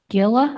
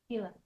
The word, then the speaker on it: Gila: Um, is there any hope to restore water flow to other rivers such as the Gilla? I think I'm pronouncing that correctly. Ga Gila.